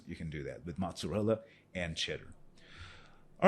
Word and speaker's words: mozzarella: And the last one, some cheeses like mozzarella, yeah, that's the pronunciation, mozzarella, and cheddar, they can be made into string cheese by stretching and pulling the curd, right?